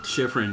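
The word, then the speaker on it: Schifrin: Lo Sheffren, am I pronouncing that right? Shiffron. Yeah.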